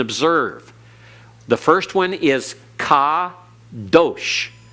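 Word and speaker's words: קדוש: the first one is Ka Dosh Accent on last syllable because in Hebrew the accent is on the last syllable unless otherwise indicated all right kadosh everyone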